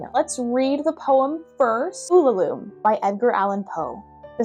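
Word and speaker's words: Ulalume: just scratching the surface I hope I'm pronouncing uom correctly let me let me look it up well the internet says that it's pronounced ulum so follow the internet Den Z everybody let's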